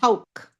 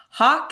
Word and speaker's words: Hauk: So, Hoke. yeah. Oh, But don't worry, I have grown up with so many different pronunciations, including hawk is very common, which yeah, kind of makes sense, but we also get Hulk a lot, and I'm confused where the L comes from.